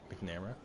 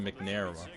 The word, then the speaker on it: McNamara: his last name mcnamara mcnamara would be nick mcnamara i've been saying mcnair oh i can't even